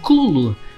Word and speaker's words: Cthulhu: Se fôssemos tentar ser fiéis à sua pronúncia, então seria algo mais parecido com Clulu, o que é infinitamente mais estúpido. Então seguiremos com Cutulo mesmo.